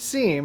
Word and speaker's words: SIEM: it's important absolutely so sim or sometimes pronounced seam as you may have heard it basically stands for security